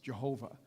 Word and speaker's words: Jehovah: That's what the name Jehovah in the Hebrew it's pronounced, Jehovah.